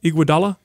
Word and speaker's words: Iguodala: by how do you say his name Adam Iguodala yes I said it right yes also mine